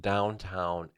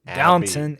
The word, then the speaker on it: Downton: Downtown Abby or wherever that show is called Downton Downton it's called downtown alley yeah oh oh what what a prostitute